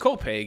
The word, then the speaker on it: Copiague: from Root and Branch, which is located in COPEG. Is that how it's pronounced? Copag.